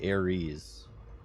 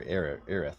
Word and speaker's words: Aerith: No, there's Eris or Aerith, not Ares.